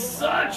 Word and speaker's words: such: ok search no pressure this one though needs some pressure ah he's such a good student ok she's such a good athlete ok so alright so for